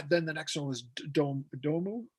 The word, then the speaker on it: Domu: And then the next one was Domu, is that how you say it? Yeah.